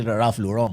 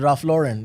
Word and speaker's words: Ralph Lauren: His name is Raf Lauren. He's not Raf Lauron.